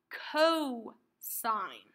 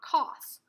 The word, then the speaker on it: cosine: one is a cos this is pronounced co-sign not cost this is co-sign CE